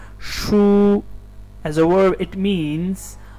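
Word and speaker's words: 输: And the second one is shu with a first tone, shu as a verb, it means lose, lose.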